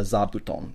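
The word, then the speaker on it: 座布団: And the thing is that originally it was fu, but when the fu is combined with another kanji, it becomes voiced.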